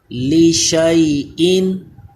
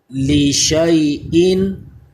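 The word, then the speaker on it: لِشَيْءٍ: line میں آ جائیے، لشیئن، اس کے ہجے کریں گے تو لام زیر لی، شین یا زبر شئی، الف کا نام نہیں لیں گے، شین کو یا سے ملائیں گے، لشئی، حمزہ دو زیر ان، لشیئن، لشیئن مالائہ، یہ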